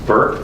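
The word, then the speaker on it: Bourque: oh by the way my name is spelled weird its Burke but its Bo you are qu e so hopefully you'll see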